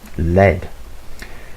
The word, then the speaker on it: led: the verb to lead the past participle is led which is pronounced the same as the metal led and also that as